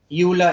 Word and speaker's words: Euler: यूलर, अब spelling पे मत जाना, ठीक है।